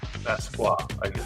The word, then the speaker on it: Basquiat: Basquiat. I don't think you pronounce the T at the end, right? Basquiat, but Basquiat.